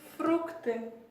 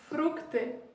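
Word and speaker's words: фрукты: Pour commencer, déjà fruits, en russe, on dit fructe. Voilà comment on prononce ça, ici vous pouvez le lire, fructe.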